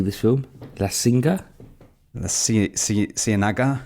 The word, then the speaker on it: Ciénaga: La Singa? The Ciénaga? Ciénaga.